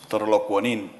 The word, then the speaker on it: Torolokwanin: The correct pronunciation is Torolokwanin. Yes.